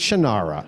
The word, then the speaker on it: Shannara: it's spelled it is it is shinar he pronounces it totally weird genre no it's not it's shinara I'm sorry it's not I'm not even you